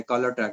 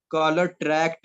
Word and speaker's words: tract: असल वर्ड है कॉलर ट्रैक्ट, TRACT। मैंने ट्रैक बोला, मैं ऐसे ही सुना था, ऐसे ही बोल दिया। TRACK बोल दिया, जो कि बिल्कुल गलत था।